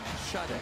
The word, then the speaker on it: Sade: for NC State's Nicholas Sadie, if he can drill it, and he does. And what is his Twitter handle again, Andrew? His Twitter handle is Smooth Operator, Charles. Like Sade. Because it's spelled S-A-D-E.